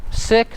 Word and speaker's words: sick: probably thinking oh that's not a big deal sick seek what's the difference hey it makes a big